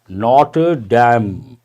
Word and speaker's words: Notre Dame: And also this is pronounced as Notre Dame, not Dame.